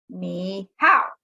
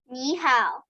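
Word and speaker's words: 你好: as her smile and she says me how which of course is not correct that's not how we say hello would you like to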